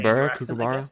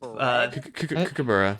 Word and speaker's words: kookaburra: Kookaburra. But Kookaburra. Kookaburra. Okay. But I say borough. You would say bureau, right? I don't think so. Kookaburra.